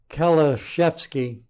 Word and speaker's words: Kaliszewski: Our guest, Kaliszewski, is the way we pronounce his name.